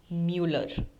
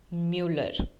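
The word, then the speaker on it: Müller: my surname is Mu now this U with the two dots which are known as om doubts if you don't know the pronunciation you can uh go and watch uh the video of German alphabets where we have learned the pronunciation where we have learned the alphabets in detail so M familiar n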